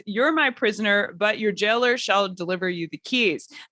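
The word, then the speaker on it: gaoler: Jailer. Yeah. to softly it's jailer. So it is pronounced the same way.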